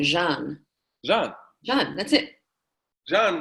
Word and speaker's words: Jeanne: so it's shine look think of Java and add an end Jean yeah yeah that's it